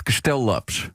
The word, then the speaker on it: Castello-Lopez: Alors, si vous voulez vraiment prononcer mon nom correctement, c'est comment Castelllopes.